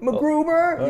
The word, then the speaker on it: MacGruber: MacGruber! You gotta say it like that.